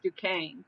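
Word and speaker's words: Duquesne: It's spelled like Dquzy, but it's Dukane.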